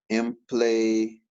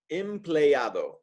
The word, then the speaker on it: empleado: ¿Qué significa empleado? Empleado. Empleado significa employee. Remember those vowels. You always pronounce them. A-O. Empleado.